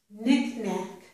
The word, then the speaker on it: knickknack: This is knick-knack, kneel, knit.